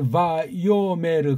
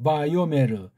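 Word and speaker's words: ויאמר: 자, 여기 바요메르 그렇게 읽습니다. 그렇죠? 바요메르.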